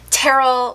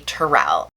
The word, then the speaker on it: Tyrell: a difficult name tyrell usually people try and say it terrell like cheryl but it's actually tyrell so yeah i am